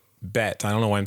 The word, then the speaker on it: Bette: So she was named after Betty Davis, her mother not knowing that it was not pronounced Bet. So she went by Bet instead of Betty.